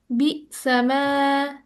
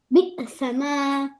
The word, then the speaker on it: بئسما: হ্যাঁ, বি সামা একটু মডারেট হবে সাউন্ডটা, মানে বিসামা মানে এরকম ধাক্কা বি, অনেক জোরে যে ধাক্কা দিয়ে যে সাউন্ডটা হয় না, বি, একটু সফট, একটু ওর অত জোরে ধাক্কা না, একটু সফট হতে হবে।